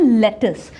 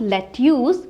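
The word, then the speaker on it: lettuce: हरे वाले पत्ते और इसको आप बोलते हैं लेटस नॉट लेट्यूस बट इट is pronounced as लेटस then tomato onions green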